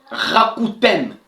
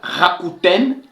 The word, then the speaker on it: Rakuten: Dans la logique des applications cashback, on cite Rakuten. Donc, vous allez seulement respecter l'orthographe. Ça s'appelle Rakuten.